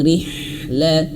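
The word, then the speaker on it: رحلة: berharakat kasrah ayah bund kalau ro yang berharakat kasrah atau bergaris bawah maka tipiskan ya nipis jangan tebal jangan bacanya rh rih rh bukan Kan ri tapi rih betul-betul tipis.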